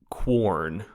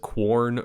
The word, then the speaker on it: Quorn: So I think it's pronounced corn, but it may just be corn. I think it's like QUORN.